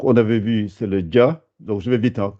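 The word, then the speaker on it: جَ: Ça fait dia, dia, adje, dia. Il ne faut pas dire ja, ja. Je n'ai pas dit ja. J'ai dit dia.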